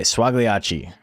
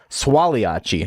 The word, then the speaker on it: Swaliachi: But okay, Swagliachi. Swaliachi, if you're pronouncing it correctly.